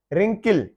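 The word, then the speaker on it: wrinkle: रिंकल है ये जो झुर्रियां वगैरह होती हैं जो चेहरे पे पड़ जाती हैं या किसी चीज पे, रिंकल, तो डब्ल्यू साइलेंट है।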